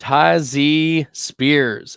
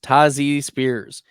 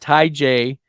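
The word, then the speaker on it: Tyjae Spears: you guys are hitting that red subscribe button tazy Spears that's right that's how it's pronounced tazy Spears not Tai J tazy Spears we knew that Derk Henry was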